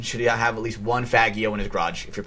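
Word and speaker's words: Faggio: Every single man should have at least one Fagio in his garage if you're playing GTA. Fagio. Come on, please get it right. It's an Italian pronunciation.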